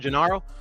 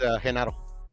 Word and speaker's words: Genaro: Because it's his name is spelled with a G, but yeah, they pronounce it like a J. Oh, it's spelled with it. Okay. Yeah, spelled with, that's why I said it like in English. I said it with the G sound, Genaro, but yeah, in Spanish it's Genaro.